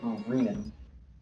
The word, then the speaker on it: Rinon: It is Rinon, not Renon, right? Is it Rin? Ring and. He has said multiple times it's Renan. If you need a visual vision, but it's spelled R-I-N-O-N, pronounced Renan, because I'm serpent in the.